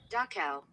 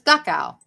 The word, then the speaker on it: Dachau: Dachau. That's Dachau.